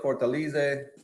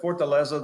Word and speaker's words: Fortaleza: And there's a people pronounce Fortaleza, Fortaleze. That's but Fortaleza, the way I say it, Fortaleza y Libre Cigars.